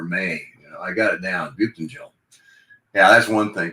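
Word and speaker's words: Buyuktuncel: Butentel. I actually phoneticized that and typed it out and put it on the steering wheel of my car, like in June or May. I got it down. Butentel.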